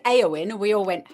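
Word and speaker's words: Éowyn: For a start, as English speakers, the emphasis would usually be on the second syllable. So that would be Eowyn, right? But it wasn't that. It was Eowyn, or at least that's what we were told.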